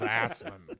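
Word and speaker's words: Assmann: Nolan Ryan of throwing rocks was Hans Assman. Good Lord. Hey, it's pronounced ass man.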